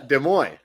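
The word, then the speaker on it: Des Moines: for some crazy reason I bet you don't know how to say it well this is uh de Moy yeah there you go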